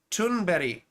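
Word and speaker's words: Thunberg: women I found was Greta tunberry I I think I'm saying that correctly that's how they say it on Democracy Now right Greta th it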